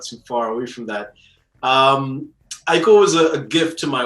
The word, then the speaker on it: Aiko: Aiko was a gift to my wife on Valentine's. So his name is Japanese for love. Oh. So it's Aiko, but there's an accent on the I with 2 dots.